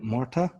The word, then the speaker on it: Murtagh: my guest is from glasgow please welcome kyle marta is that how i pronounce it that's how you pronounce it and